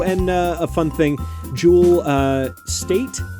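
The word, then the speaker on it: Jewel Staite: uh a fun thing jewel uh state i believe is how you call how you pronounce her name uh from firefly and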